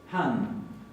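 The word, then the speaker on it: hann: Después tenemos, para la tercera persona, han. Y fíjense que acá la doble N se va a pronunciar como una doble N.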